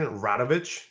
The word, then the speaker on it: Radovich: I think is your last name Radovich?